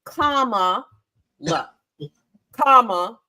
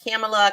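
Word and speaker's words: Kamala: this one that and the kids were like comma comma oh like kamla Harris yes kamla Harris there's actually a word and like the orange guy pronounces it wrong on purpose he's like camela Kam whatever it doesn't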